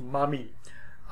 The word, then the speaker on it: Mami: She's referred to also as Belet Ili, or Mami, and literally that's how it would be pronounced, Mami.